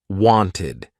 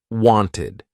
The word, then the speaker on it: wanted: what I'm talking about if a verb ends in t or d The Ed ending will be pronounced ID want ends in a t wanted need ends in a d needed pasted painted so if the verb ends in a t or a d you're going to use that ID ending wanted I never accepted